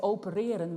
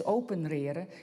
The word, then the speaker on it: opereren: And similarly, I've heard Dutch children use, instead of opereren, which again is a loanword, to operate upon, and they pronounce it as openreren, because somehow they see a link with the opening up of the body.